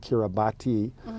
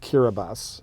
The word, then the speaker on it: Kiribati: an S so they they replaced every S sound with the TI but anyway if if